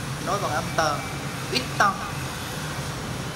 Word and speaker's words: huit ans: Huit ans, nối bằng âm tờ.